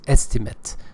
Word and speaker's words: estimate: noun therefore it is estimate if it is a a verb is estimate of the amount of